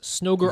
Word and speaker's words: Snoger: Snoger RS rhymes with Ogre RS.